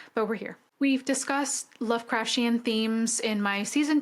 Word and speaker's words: Lovecraftian: It should be said as Lovecraftian, not Lovecraftian. I've been reading it like you would Martian for example, but it's apparently Lovecraftian.